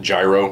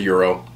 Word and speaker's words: gyro: meat lamb nero meat um some people do pronounce it gyro and i think it's just like an anglo-sized version but it's a euro for those in the peanut gallery i haven't